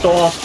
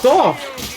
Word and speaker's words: Dorf: your pronunciation of Dorf is so wrong. It's Dorf.